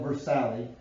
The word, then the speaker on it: Versailles: And I know it's spelled Versailles, but it's pronounced Versailles.